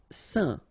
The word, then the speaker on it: saint: Saint. Alright, so final T not pronounced, and then when you combine this A-I-N here, you get the un sound. Saint.